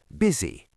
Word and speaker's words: busy: Be careful because the letter U is pronounced as a short I. Busy busiest.